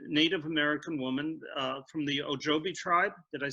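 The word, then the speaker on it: Ojibwe: And the Native American woman from the Ojobi tribe, did I say it right?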